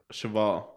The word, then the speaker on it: cheval: i said it right chevelle is a horse nope i did say it backwards i said dog with chabelle horus in french yeah shabbat oh duh cheval oh but it's a